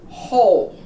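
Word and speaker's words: whole: Hole. We don't pronounce the W.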